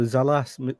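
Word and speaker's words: Sallaz: plenty funny word because it's a mispronunciation of a swiss word uh so zalas machine i think is the correct pronunciation for the polishing machine we've heard that tim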